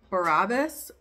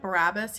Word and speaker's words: Barabbas: Because I will release this one man, a murderer, whose name was Barabbas, I think is how you say it. Barabbas.